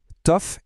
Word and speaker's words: tough: On va en grouper 2 d'un coup, tough et rough. Pourquoi? Parce qu'ils riment, c'est parfait. Dans ces 2 cas, le OU-JH fait un son off.